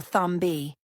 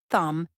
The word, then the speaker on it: thumb: The letter B is silent in words like comb, thumb, and climb. Many learners mistakenly pronounce the B at the end, saying comb B or thumb B. But the correct pronunciation is comb, thumb, and claim, no B sound.